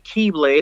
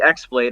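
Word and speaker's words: χ-blade: this weapon called well you can pronounce it as the keyblade or the x-blade i i know i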